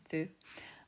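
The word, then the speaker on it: ふ: it's not my favorite it's called like Kung Fu for pronunciation um Fu um even Fuji that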